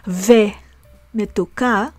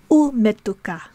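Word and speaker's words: וּמְתוּקָה: So instead of saying Shana tova ve metuka, to say Shana tova, a good year, ve and sweet. No, that's not how we say it. We say Shana tova umetuka. Umetuka.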